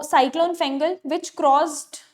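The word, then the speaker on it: Fengal: अच्छा, very important, cyclone फेंगल आया है, इफ my pronunciation is not wrong, फेंगल, फेंगाल भी बोल रहे हैं कुछ लोग।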